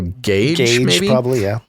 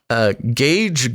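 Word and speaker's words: Gaige: to pronounce his name it's spelled g g-a-i-g-e so gage gage gross krutz now this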